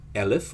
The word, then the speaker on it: elif: one uh into one command which is called alif or elif depending on how you want to pronounce it and again you realize that this